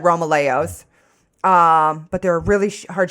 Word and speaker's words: Romaleos: But I use the Nike Romalos, however you want to fucking pronounce it. Dear God. I've always said Romaleos.